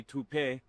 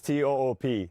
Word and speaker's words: Toop: Say it right. That's t o o p. That's Toop.